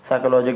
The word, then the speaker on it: psychology: I think कोई भी अगर हमें अभी तक साइकोलॉजी की स्पेलिंग पी से स्टार्ट करते हुए बताया हो, ठीक है, पी से स्टार्ट करके नहीं बताया।